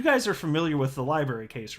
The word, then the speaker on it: LBRY: an entity called library which goes by lbry for short but it's it's pronounced a library and they're the ones